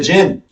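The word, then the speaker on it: djinn: how do you say it gin it's a gin d-j-i-n and in Arab culture Middle Eastern culture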